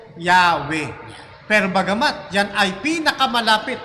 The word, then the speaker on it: Yahweh: Actually nga, maraming bigkas yan, yung mga Bible scholar. Merong Yawa, Yewa, Yahweh, Yahweh. Yowo, o marami pa, yung pang Yewo, marami po silang bigkas. Pero mas nanaig dito na pinakamalapit, Brother Lino, yun pong Yahweh.